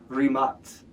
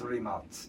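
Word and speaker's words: Rimac: And so everyone calls it Remach in the US, but it's Rematz.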